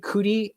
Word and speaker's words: Cudi: Oh, it's Cudi. Okay. Never rely on my pronunciation of anything.